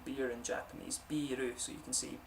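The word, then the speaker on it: ビール: But you can see here, this is how you say beer in Japanese, biru, so you can see B, the little line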